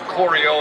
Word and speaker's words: CORIO: about our name Coro we spell it c r i o it's the same as Coro as in choreography to set up a